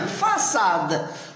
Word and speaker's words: façade: Très bien, façade. Donc, puisqu'il y a la CD, on ne prononce pas K, on prononce ça.